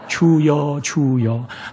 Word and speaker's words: 주여: 주여. 아이고 주여, 이 소리가 죽여. 따라해봐요. 주여. 잘 발음하셔야 돼.